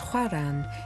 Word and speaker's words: Oran: along the a1 highway iran pronounced huaran is algeria's closest point